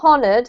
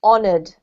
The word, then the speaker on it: honored: here is may good this one is honored not honored but silent h honored perfect and the last